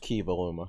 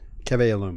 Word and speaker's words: Keve Aluma: So we just assume it's pronounced Kivaluma.